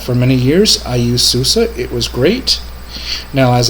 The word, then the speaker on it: SUSE: that that is software o system and VI Susa and it says here that they've always been known as Susa now some people may say Suzie some may may say Susi but I will always pronounce it Susa because